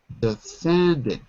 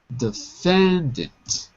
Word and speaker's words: defendant: defendant defendant that's right defendant distress is on the second syllable defendant okay the defendant okay